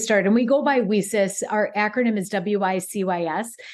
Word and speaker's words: WiCyS: yes and very very much so so when whis was started and we go by whis our acronym is wyc Ys but we pronounce it whis like we sister because we're